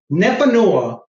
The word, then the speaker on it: Nepanoa: And Andy, you did a great job pronouncing it. Nepanoa is a word in Nahuatl.